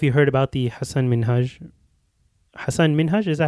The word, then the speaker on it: Minhaj: I don't know if you heard about the Hasan Minhaj, is that how you say it? Yeah. Minhaj.